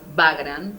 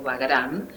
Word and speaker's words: Bagram: base militar en afganistán que se llama bagram o pagaran dependiendo cómo se lo pronuncie y el ide así